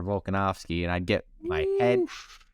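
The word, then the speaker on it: Volkanovski: and I immediately went Alexander volganovski because you know it's Alexander volkanovsky and I'd get my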